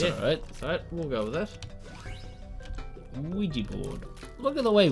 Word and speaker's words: Ouija: The way Ouija is spelled is always like confused me. Ouija board. It looks nothing like. Nothing like a double E in any language, surely.